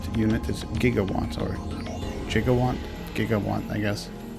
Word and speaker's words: gigawatt: made a spelling mistake the correct unit is gigawatts or jigawant giga1 i guess if you're well